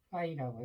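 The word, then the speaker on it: φ: 이거를 파이라고 해보자. 영어로는 이렇게 쓰고 저는 파이라고 불러요. 이게 F 발음이네요. 거의 비슷해요. 파이.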